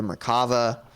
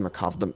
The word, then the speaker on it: Merkava: be there it was pronounced that horribly the merkava and not the merkov merkava sorry before my